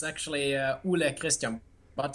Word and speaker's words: Ole: So I have to introduce to you Ole Christian. Is that pronounced correctly, sir? It's actually Ole Christian.